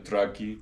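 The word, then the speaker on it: траки: of these people that in English are called the traan but I call them tracki track is a more accurate pronunciation they used to live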